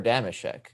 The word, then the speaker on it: Damashek: i did i am i saying his name wrong it's deimosheck or damashek damashek yeah damn right okay okay